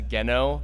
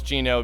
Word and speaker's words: Gino: as him for Halloween, I pronounced Gino as Geno for like so long until I realized like, oh, it's Gino because he's like Pinocchio and it's like an Italian name.